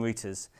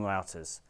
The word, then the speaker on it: router: of devices called routers this is actually a word that's pronounced differently in British and US English in the UK we call them routers but in the US they'll call them routers I will try to use the US pronunciation because it's more common internationally a router connects together